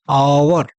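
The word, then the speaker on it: hour: अगला प्रश्न है I will finish this work with in dash आवर। आवर शब्द जो है यहां स्वर की आवाज आ रही है। इसलिए यहां पर एज क्या है? साइलेंट है।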